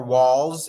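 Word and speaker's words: Walz: most ghetto um the waltz family or walls if you are uh pronouncing it correctly because there's no T and the uh highspeed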